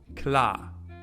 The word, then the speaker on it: klar: Klar. You don't pronounce it at all.